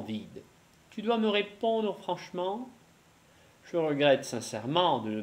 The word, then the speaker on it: franchement: commodément, gentiment, brièvement, absolument, franchement. Да, будьте внимательны также к особенности прочтения наречий. Так мы не говорим longuement, мы говорим longuement. И здесь также будет franchement. «Э» не читается и выпадает. Franchement.